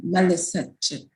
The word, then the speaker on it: Melisek: My name is pronounced Melisek. So it's Ethiopian.